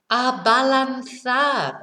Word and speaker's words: abalanzar: You know, so again, balanzar is, nice and easy. It sounds like what it is in English, balance.